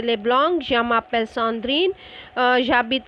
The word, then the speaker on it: j'habite: So here habiter, you are not going to put the j and habit, because h is silent followed by a vowel, so it has to be j apostrophe. Clear? So it is j'habite.